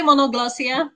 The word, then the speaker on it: Monoglossia: We just say Monoglossia, polyglossia, just regular kind of Englishy.